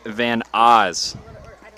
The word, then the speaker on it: Van Oz: Want to apologize real quick on a couple of pronunciations I've been getting wrong. Alex Grange for the Braves, the third baseman who had that inside the park home run, Alex Grange, as well as Henry Van Oz. Henry Van Oz for the Cubs.